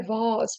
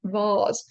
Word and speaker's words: vase: And in a vase, please. By the way, British pronunciation, vase. American pronunciation, vase.